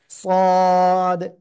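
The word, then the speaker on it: صاد: এই সদ অক্ষরের চার আলিফ টেনে পড়তে হয়, এটা আমরা গতদিনও শিখেছিলাম, তাই না?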